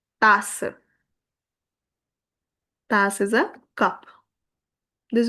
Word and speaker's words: tasse: Here also, E silent, but give its whole sound to SS, which will become tasse.